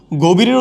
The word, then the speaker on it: গভীর: উচ্চারণ হয়ে যাচ্ছে অধীন গভীরের উচ্চারণ হয়ে যাচ্ছে গোভীর মনীষার উচ্চারণ হয়ে যাচ্ছে